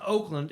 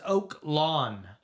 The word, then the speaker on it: Oak Lawn: no, I said that was the name of the school, and it wasn't Oakland. It was Oak Lawn.